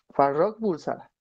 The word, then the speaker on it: Farrokh Bulsara: ¿Y sabías que se llamaba, cómo, Farrokh Bulsara? Y te quedas de, oye, amigo, tranquilo, relájate. Pero pues aún así. Ya me regañó el jefe. Farrokh Bulsara. Así lo pronuncié bien.